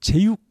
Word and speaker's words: 제육: 이렇게 볶은 거죠 저육 저육 하는 거보다 제육이 더 발음이 편해서 제육 우리는 부른다는 것